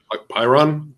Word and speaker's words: Pyrrhon: Oh, yeah, and I also saw that Alex Cohen also played in that band I can never pronounce right. That's spelled Pyrrhon. Pyron. Pyron? Yeah, he also played with them for Pirate.